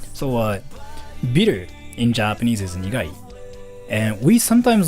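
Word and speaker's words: 苦い: Yeah, nigai. We say it like nigai.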